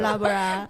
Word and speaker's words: Loughborough: Before But that, for we the are wrong first time for We reading pronounce these as- cities or Loughborough. We're Right. doing like this. Yeah, yeah. Loughborough.